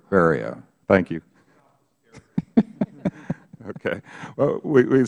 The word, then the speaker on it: Ferriero: Rhymes with stereo. Ferriero. Ferriero.